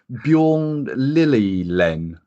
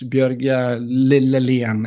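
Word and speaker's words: Bjørge Lillelien: Is it Bjorn Lillelen? Yeah, well, in Norwegian it's Bjørg Lillelien.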